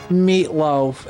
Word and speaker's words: Meitlofe: Mercenary Meatloaf, and it's spelled Meitlofe. Meatloaf. It doesn't matter. It's Meatloaf either way.